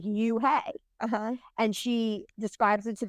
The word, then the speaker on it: Unhei: So it's spelled UNHEI. So like uni. No? Very close. Okay. Yuhei. Oh, Yuhei. Okay.